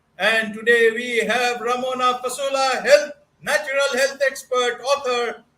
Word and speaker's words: Fasula: learning from them and today we have Ramona fasola Health natural health expert author certified holistic health